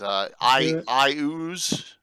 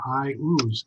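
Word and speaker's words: Iuz: Now, I don't know that that's what Gary called it, but I thought it made perfect sense that I ooze.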